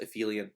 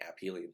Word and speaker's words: aphelion: I've also heard it pronounced aphelion, but I like perihelion and aphelion.